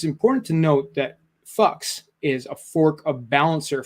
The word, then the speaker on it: PHUX: So, and Fucks is spelled PHUX.